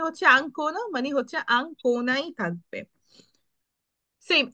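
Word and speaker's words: Ancona: যে হচ্ছে আকমে আঙ্কনা আঙ্কনা এটাকে যদি আমরা অ্যাঙ্কনে পড়ি তাহলে হবে নো ওইটা ইংলিশ হয়ে যেত কিন্তু এটা হবে না এটা উচ্চারণে হচ্ছে আংকোনা মানে হচ্ছে আংকোনাই থাকবে সেইম এখানে হইতেছে এটা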